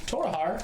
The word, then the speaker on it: Torahar: Torahar is T O R O H A R to just how it sounds.